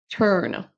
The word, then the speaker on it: turn: Turn, turn, on ne prononce pas turn comme on pourrait avoir le son U français.